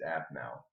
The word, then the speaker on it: Aphmau: It's spelled APHMAU. Yeah. It's Apmau. That's.